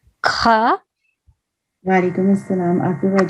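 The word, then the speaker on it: خاء: And This is like snoring. Kha.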